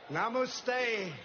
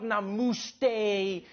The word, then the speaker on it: namaste: Namaste, Chiwala, Gujarat, Sardar Patel, Ashram, Sachin Tendulkar, Gujarat, Goa, Diwali, as the great religious teacher Swami Vivekanand once said.